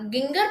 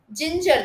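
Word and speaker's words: ginger: ஜிஐஎன் ஜிஇஆர் நாங்க கிங்கர் pronounce பண்ண மாட்டேங்கிறோம், ஜிஞ்சர் தான் ப்ரொனவுன்ஸ் பண்றோம்.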